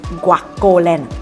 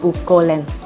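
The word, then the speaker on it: GuocoLand: Anyway, a side note, it's pronounced as Guacoland, not guolan.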